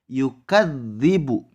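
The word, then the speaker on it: يُكَذِّبُ: punya kalimat yukadzdzibu diatas Huruf tebal ada tasydid sehingga huruf sebelumnya masuk ke dalam huruf yang bertasydid saat membacanya harus ada penekanan yukadzibu you can ribu contoh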